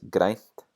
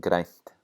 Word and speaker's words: grænt: Same with græn becoming grænt. We get a voiceless N before the T, so watch out for that.